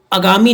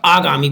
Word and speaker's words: आगामी: हम जो है जैसे देखिए अगामी नहीं कते हमेशा आप उच्चारण करते समय उसको ना देखा करो आगामी नहीं होता आगामी परीक्षाएं होती है अंत्याक्षरी अंत छरी